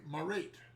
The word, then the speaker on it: Marete: 5 is imitated by Marete. Yeah, Marete. Marete, Laurie calls it. I always call it Marete. But yeah, I Marete. know. I always pronounce it Marete, but it, to rhyme with Crete, but of course Crete isn't It's actually Crete.